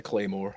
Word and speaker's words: claymore: It's spelled in Gaelic, and I've heard people pronounce this all sorts of wrong. It is just pronounced the claymore.